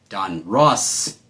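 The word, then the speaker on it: Donruss: We've got another 1986 Don Russ, not Ross.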